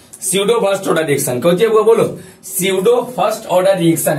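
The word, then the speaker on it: pseudo: हैं shadow first order P से ही शुरू होता है सडो फर्स्ट पी साइलेंट रहता है देखिए एक बात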